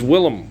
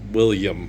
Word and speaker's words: Willem: It's Willem. Willem Wallace, not William. It's Willem. Okay. Willem Dafoe. It's not William. Okay. It's spelled differently and pronounced differently. Willem.